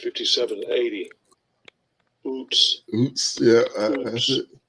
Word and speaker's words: Uz: Oots. Strong's H 5780. Oots. Yeah. That's it. It's only one way to pronounce that one.